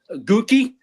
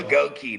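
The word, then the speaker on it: Goedeke: Gookie, dude. That's a up name. Goi. There you go. Goki. That's how we're supposed to pronounce it. Goi.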